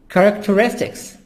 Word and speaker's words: characteristics: Characteristics. H here is silent.